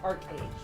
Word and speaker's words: ArcheAge: game itself is pronounced archage which is a little bit different from the way they pronounce it in korea so so a lot